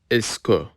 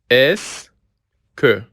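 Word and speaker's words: est-ce que: روش اول با استفاده از اسکو. اسکو. به تلفظش دقت کنید. ببینید این همش تلفظش اس میشه. این این هم سه اسکو.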